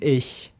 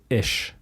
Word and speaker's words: ich: pretentious person yeah so i would always try to say ich and they would all say ish yeah they said ish instead of ik yeah so my